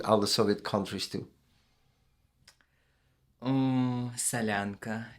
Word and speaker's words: Solyanka: How do you say Selanka? Solyanka, Selanka. Okay.